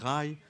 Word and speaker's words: Ray: | pronounce it Rye, in the Bengali accent, though most people use Ray, the Hindi pronunciation.